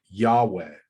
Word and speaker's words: Yahweh: tetragrammaton rendered and that's how we get to jehovah with the v sound and yahweh with the w sound right because this is